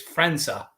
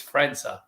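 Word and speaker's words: França: place of who uh it's not Frank and Martin it's Franza it's not Franco it's frenza it's spelled Franco but it's actually France and we covered this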